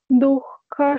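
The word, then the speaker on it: दुःख: Ahara rajasa syeshta dukha shoka maya pradaha. Dukha, that dukha, you can pronounce better. Dukha. That is how you have to pronounce.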